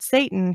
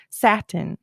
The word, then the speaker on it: Satan: is what he thought, or how you thought you pronounced the word Satan. He was pronouncing it satin, like the material.